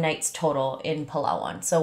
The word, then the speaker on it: Palawan: Oh, so I spent 8 days total in Palawan or Palawan, depends on where you're from, how you pronounce it. Sorry. I'm going to pronounce it Palawan. That's just how I was taught by some locals, so.